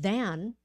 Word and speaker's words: then: think thing think then and then is voiced put your tongue out okay so everyone do